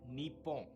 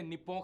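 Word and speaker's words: 日本: अगर आप इसे इंग्लिश में लिखा हुआ देखोगे तो आप इसे निपों करके प्रोनाउंस करोगे, लेकिन असली प्रोनाउंसिएशन इसकी नीपों होगी।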